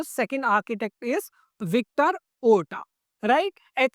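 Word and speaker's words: Horta: नाउ the second architect is Victor ओटा। Right? H silent रहेगा। तो आपको ओटा ही पढ़ेंगे इनको।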